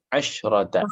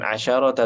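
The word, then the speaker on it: عشرة: Asyrota. Nah, sahih. Oh, Jadi shinnya jadi sukun itu. oh, nah Ustaz. Bukan asyarota tapi asyrota. Oh.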